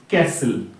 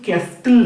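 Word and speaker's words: castle: হয়ে যাবে ভিডিও তাই এখানে কিন্তু বিটা কিন্তু সাইলেন্ট লেটার ঠিক একইভাবে দেখে তোমরা জান সেখানে দেখ পরেরটা এসটি ক্যাসেল ক্যাসেল মানে দুর্ব ক্যাসেল এখানে কিন্তু ক্যাস্টেল না ক্যাসেল নাটা কিন্তু সাইলেন্ট এখানে সুতরাং ক্যাসেল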